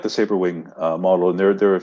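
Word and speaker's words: Sabrewing: about the remote cargo sabering. I think is that how you say it? Sabering, right? Saberwing, yeah. Saberwing, of course.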